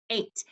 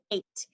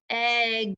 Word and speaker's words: eight: trick word is 8 this word is tricky because there are multiple letters in this word that don't make the sound that they should be making he usually says I said if G says the H says whoa if that was spelt the way it sounds it would say hey good that's not right